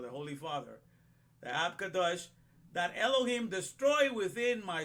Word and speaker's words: Ab Kadosh: So it was in the day of the Ab Kadosh. That's how you say it in Hebrew, the Holy Father. The Ab Kadosh, that Elohim destroy within